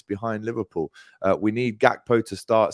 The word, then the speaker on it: Gakpo: to you it's Cody gakpo not hackbo um it's pronounced with a uh a silent G almost right so if you